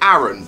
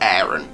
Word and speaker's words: Aron: it's a different name some people pronounce it Aron but it's errant this it's the pronunciation